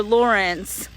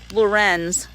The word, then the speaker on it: Lorenz: out that this taylor lawrence lorenz i guess is how you say her name she actually got doxed